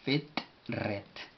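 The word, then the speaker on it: ፍጥረት: Entonces es FITRET. Forma de escribirlo en español sería algo por el sentido F sin pronunciar vocal, T explosiva sin pronunciar vocal, RE y finalizando con una T sencilla. No explosiva.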